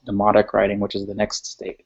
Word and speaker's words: Demotic: They were actually letters that were transformed from the hieroglyphic writing eventually into what's called demotic writing, which is the next stage. Demotic, not demonic, but demotic with a T.